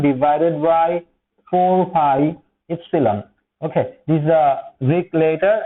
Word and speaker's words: epsilon: K is equal to 1 divided by 4pi epsilon okay these are week later and as the pronunciation Epsilon okay this is epsilon and this